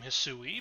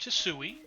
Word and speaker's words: Hisui: me at least once that maybe you would pronounce the region's name hassui but at the same time that also just